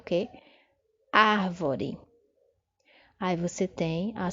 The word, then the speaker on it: árvore: Árvore. Aí você tem a sílaba tônica destacada. Árvore.